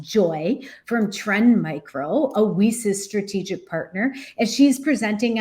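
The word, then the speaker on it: WiCyS: and we pronounce it whis like we sisters because that's exactly what we are we are a global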